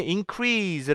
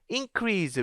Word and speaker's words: increase: 것을 알아요 어떻게 알아요 이거 왜 여기서 increase 발음되고 강세가 있고 여기 increase 왜 다른 거야 다른 이유가 뭐겠어요 예 요건 동사 이것은 명사게 다르죠 어 그러면 이게 강세가 다른 이유가 지금 품사가 있기 때문에 다른 거야라고 해서 우리가 알 수 있는